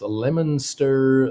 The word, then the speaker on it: Leominster: It's pronounced Lemonster, Leominster.